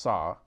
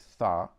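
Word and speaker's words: ث: the letter th in in persian it's pronounced saw in arabic thaw and according to dr.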